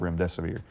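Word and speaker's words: remdesivir: and the truth about rem desae and even coined the phrase if you can't remember what the name is just it rhymes with run death is near and that has literally gone worldwide.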